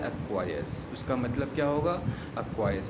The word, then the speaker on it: acquiesce: Seventh word is अक्वायर्स। Spelling क्या है?